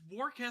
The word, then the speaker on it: Worcestershire: It's It's Worcestershire. Worcestershire.